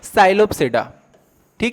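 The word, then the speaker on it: Psilopsida: classes में पहला है साइलो सेडानी है यहां पे पी साइलेंट होगा ठीक दूसरा लाइकोपस तीसरा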